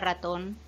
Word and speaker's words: ratón: Por último, las palabras agudas, que son las que tienen su sílaba tónica en la última sílaba y se acentúan cuando sí acaban en N, S o vocal. Fíjate en la palabra ratón. Ratón es una palabra aguda y acaba en N, por lo tanto, lleva tilde.